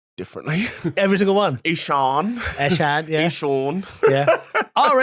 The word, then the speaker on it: Eshaan: Eshaan. Eshaan, yeah. Eshaan. Yeah. Our agent Yeah. doesn't pronounce my name properly.